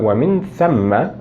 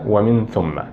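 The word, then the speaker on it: ومن ثَمَّ: فالنطق الصحيح للكلمة هو ومن ثم وليس ومن ثم، ونستخدم أداة الربط هذه للربط بين الغاية والفعل.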